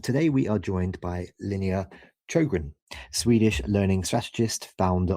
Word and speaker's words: Linnéa: I think it was fine, but it's Linnea. So, Swedish, hard to pronounce in English, that's fine.